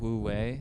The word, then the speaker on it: wu wei: Yeah, like you talk about wu wei, is that how you say it?